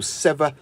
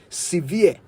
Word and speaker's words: sever: Anyway, I also hope you noticed that I said sever, which is correct, but many Ghanaians often mispronounce it as severe.